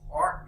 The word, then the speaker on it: Clerk: James Clerk Maxwell, but it's spelled Clerk. It's pronounced Clark Maxwell.